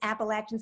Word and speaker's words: Appalachian: said the whole name you got to say it right it's appalachian state university excuse women appalachian state